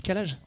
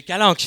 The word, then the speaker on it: calanques: C'est quoi les les calages ? Ouais. Ouais. Les calages frérot, faut suivre faut suivre un moment. C'est Non mais c'est un c'est les calanques. C'est les calan. Tu prononces mal.